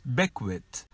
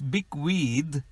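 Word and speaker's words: bequeath: sojourn number four big wheats lots of people pronounce it as beckwith it is big weed leaving property to a person by a will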